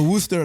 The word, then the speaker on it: Worcester: And I know it's pronounced Worcester because I've been there.